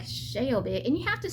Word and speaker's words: Shelby: So you can't say Shelby, you have to say Shelby.